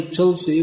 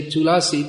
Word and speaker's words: tulasi: said to last year if we otherwise say tulsi which is common indian bengali translation uh that's the word in hindi or bengal if you say tulasi people might they might wonder what you're talking about but in uh at least when we say in the sanskrit verse we should say okay yeah